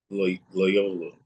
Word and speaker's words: Loyola: she is uh enrolled in Loya how you say it little you know I'm talking about the lawyer Loyola Loyola there you go the lawyer of Chicago